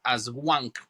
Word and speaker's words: Aswang: Eh, una de las más importantes y que está en casi todas las islas es una que se llama el Aswang. Se escribe a S u A n g.